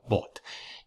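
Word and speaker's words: bought: esta que tienes aquí que se pronuncia bot como sabes si un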